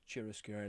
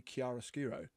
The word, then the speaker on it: chiaroscuro: Kind of lots of chiaroscuro lighting. And although I found out the other day, we've been saying it wrong the whole time. It's supposed to be chiaroscuro.